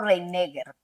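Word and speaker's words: Reiniger: Yo le digo Reineger. Reineger. Y trato de sonar muy enfáticamente la última R.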